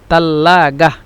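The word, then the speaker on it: تلاجة: আঞ্চলিক ভাষায় ওরা বলে তাল্লাগাহ দেখেছেন এই যে তা এই ছাটাকে ছাটাকে সম্পূর্ণই তা হিসেবে ব্যবহার করে থাকে তা এবং এই জিমকে উচ্চারণ করবেন গইন হিসেবে তাল্লা গা তাল্লা গা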